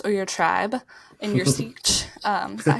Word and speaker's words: Sietch: in your house or your tribe, in your sietch.